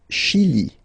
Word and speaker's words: Chili: Le Chili. Le Chili. Okay, remember, CH, sh.